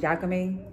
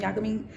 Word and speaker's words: yaka mein: I don't know if I'm saying it right, because the way I say it is yaka mein. Like, you want some yaka mein? Spell yaka mein, I want to say. So it's like Maine.